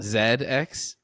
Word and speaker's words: ZX: pronounced ZX Spectrum uh Zed X Zed is just the British pronunciation of Z it's a British computer